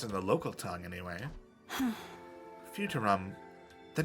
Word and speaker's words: Futurum: That's how it sounded pronounced in the local tongue, anyway. Futurum.